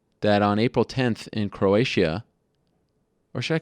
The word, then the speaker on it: Croatia: I call it Croatia I think it's Croatia I think that's how you say not Croatia it's a little too um you can't pronounce the ey that much got to be a little more subtle Croatia uh anyway it's going